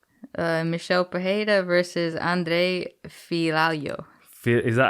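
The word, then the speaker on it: Fialho: michelle pajeta versus andre filalio is that how it is i don't know i'm currently reading a comment that says andre filario is pronounced f-e-e-a-l-yo so if you got me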